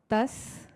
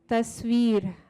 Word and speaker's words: Tasveer: I want to make sure I'm a little bit on a mission about pronouncing Tasveer. So if we could all try it out. Tasveer, Veer, Tasveer, Tasveer, Tasveer, Tasveer, Tasveer.